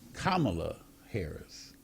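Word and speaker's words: Kamala Harris: candidate and that is kamla Harris so you know just to kind of give people a little education in terms of say on how to say her name but it's kamla haris so I think everybody's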